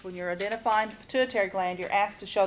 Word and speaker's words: pituitary: pit U I ter it's not pronounced quite the way it's spelled and so you have to kind of come up with a a way of remembering but pituitary gland and hypothesis the